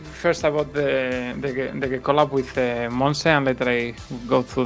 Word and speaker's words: Monse: But these 2 artists, Flashback and I always say this name wrong. Monse, right? Torres? Monse, yeah.